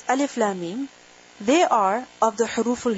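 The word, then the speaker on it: الم: Lam and Mim are joined together. But they are pronounced separately.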